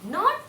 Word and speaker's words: knot: We should not pronounce D sound.